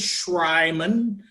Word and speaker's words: Schreimann: and by the way my last name is Sriman but it's about as german as you can